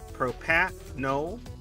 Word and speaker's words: propranolol: Yeah, P-A, propranolol. So the N-O's together there, Shadow, in the YouTube chat. Yeah. And it's not pan, it's propo. Like proposing. Propranolol.